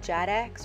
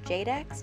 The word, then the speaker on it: JADX: decompiler this one is called jad X or Jade X depending on how you want to pronounce it and we're going to